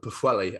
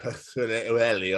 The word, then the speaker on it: Pwllheli: good old Des, and I was trying to pronounce the name. It's near Bangor. It's a Haven holiday resort called Pwllheli, and I said it, and they were like, "Oh, Tom, please say that again."